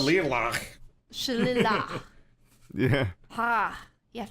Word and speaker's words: shillelagh: casting spell called Shillelagh?